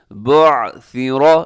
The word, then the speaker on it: بعثر: بعثر، یہاں سیٹی لوگ ڈال ہی دیتے ہیں تو سیٹی سے آپ نے بچنا ہے. بعثر ما فی القبور، قاف موٹا ہے، ما فی القبور.